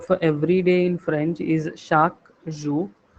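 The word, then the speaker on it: chaque: For example, the word for everyday in French is shaku. So this q u e in French is pronounced as k in English.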